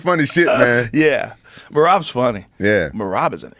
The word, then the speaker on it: Merab: Merab.